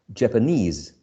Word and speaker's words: Japanese: syllable japanese japanese right we know that whenever we use this suffix right because the i guess the original words japan japan japanese this suffix is attracts the stress japanese senegal senegalese portugal portuguese okay so um this uh suffix right attracts the uh uh the stress legal legalese okay it's